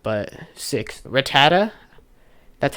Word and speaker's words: Rattata: that's a hot take or not but six Rattata that's how you say it when I go